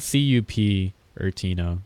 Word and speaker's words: Cupertino: Well, it's spelled C-U-P Ertino, so I'm pretty sure most people would call it Cupertino.